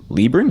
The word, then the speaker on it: LeBron: Jaden Lebron. Is that how you pronounce That's it? right, LeBron, like LeBron James.